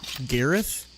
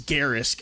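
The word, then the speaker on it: Garrus: Gareth is Gareth, right? It's not Garris. Pretty sure it's Gareth. I feel bad. He's my favorite character and I might get his name wrong. Gareth Mass Effect. It is Garris.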